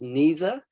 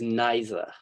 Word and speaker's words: neither: Some people pronounce this word as neither, and some people pronounce this word as neither. And there's no real correct way to say it. Both versions are correct.